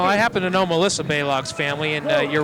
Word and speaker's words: Balog: Stacy Baylog is actually the pronunciation there.